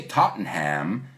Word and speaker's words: Tottenham: east west mhmm ham humming hey we don't pronounce that tot we say Tottenham he says soup or nay but one of